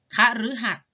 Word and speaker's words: คฤหัสถ์: ตาม ภูมิอากาศ เป็น หลัก คฤหัสถ์ หมาย ถึง ผู้ ครอง เรือน พฤกษา หมาย ถึง ต้น ไม้ มฤตยู หมาย ถึง ความ ตาย ชื่อ ดาว เคราะห์ ดวง หนึ่ง เห็น ไหม คะ อ่าน ออก เสียง เป็น รึ นะ คะ ต่อ ไป อ่าน